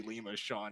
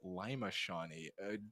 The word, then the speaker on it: Lima Shawnee: handedly and very easily Lio sha unfortunately pretty one-sided from this from what it seems like definitely definitely my apologies I've been mispronouncing this wrong all day it is Lima shaie sincerest apologies to any